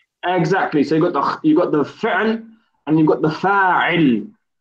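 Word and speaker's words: فعل: Feel. Fi'l. Yes, with the ayn, fi'l.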